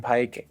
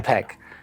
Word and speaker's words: Peck: any really of Ethan pike as Spock mm-hmm where would I say that name wrong you said Ethan Pike yeah you can Pike Ethan Peck but I if I